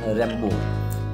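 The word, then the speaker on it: Rimbaud: Covid নাম হলো Arthur রেম্বো এখানে আর আই এম ডি এ ইউ ডি এখানে এম এর উচ্চারণটা হবে না রে আর বো বি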